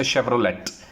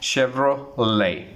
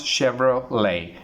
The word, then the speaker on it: Chevrolet: We say Chevrolet. Chevrolet, it's incorrect. The correct pronunciation for Chevrolet, T is silent in this word, so the correct pronunciation for this word will be Chevrolet. How do you pronounce? Chevrolet is the right pronunciation.